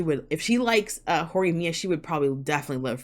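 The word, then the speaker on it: Horimiya: my gosh hold on forumia or Ori Mia hori Mia yeah okay okay sorry I didn't know how to pronounce that excuse me yeah okay is that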